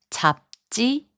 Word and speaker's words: 잡지: In the last group of words, 지읒 changes its sound to 쌍지읒. 옷장, which means closet, is pronounced as 옷장. 잡지, which means magazine, is pronounced as 잡지. 갑자기, which means suddenly, is pronounced as 갑자기.